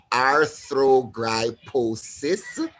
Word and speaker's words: arthrogryposis: disability um a disability called wait for it arthrogryposis i'm breaking up in syllables for all my friends over there but it's it's it's